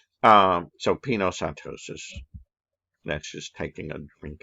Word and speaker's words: pinocytosis: the extracellular fluid so the way i remember it peanut like pina colada you're taking a drink i know it's spelled differently but it reminds me of this right um it's kind of stupid but it works for me um so pinocytosis that's